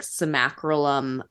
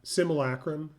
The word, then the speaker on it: simulacrum: she was really getting comfort from this like simacrolum. How do you say it? Simulacrum.